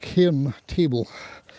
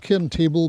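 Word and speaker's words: Cairn Table: going up a big hill near here called K table. It's called Ken table because I suppose it's kind of flattish at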